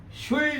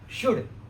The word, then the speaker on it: should: हाँ, ये जो उसका उच्चारण है ना, शुड, ये जो एल है ना, ये साइलेंट है, तो हमें इसको शुल्ड नहीं बोलना है। क्या नहीं बोलना है? शुल्ड नहीं, शुड।